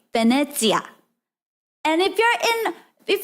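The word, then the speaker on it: Venezia: to say like locals, what is Venice? I say Venice because that's how you know Venice. But in Italia, we would say Venetia.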